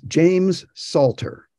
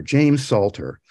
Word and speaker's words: James Salter: It's James Salter, S-A-L-T-E-R, James Salter.